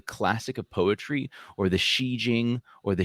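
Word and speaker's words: Shijing: Uh, there are references in to this in this work called the Classic of Poetry, or the Shi Jing, or the Shi Qing, as it's pronounced, also called the Book of Songs, the Book of Odes, or poetry, as Wikipedia says.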